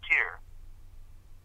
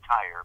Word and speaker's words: Tyre: Thus, in the legendary temple of Hercules at Tyre, most people pronounce it Tyre, but it's Tyre, in the Mediterranean shores of Syria, on the Levant.